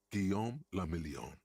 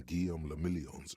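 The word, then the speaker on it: Guillaume Le Million: Guillaume Lamillion. If it doesn't rhyme, you're not pronouncing it right.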